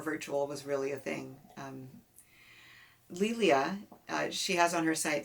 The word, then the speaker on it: Lelia: was really a thing lilia she has on her site that it's it rhymes with emilia uh she is a